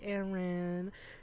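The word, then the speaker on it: Arin: Here's Aaron. His name is spelled A-R-I-N.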